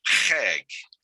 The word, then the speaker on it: chag: That letter is, the first letter is a chet, and we need to use our throat to pronounce it. So I'm going to try this again, and the word is chag.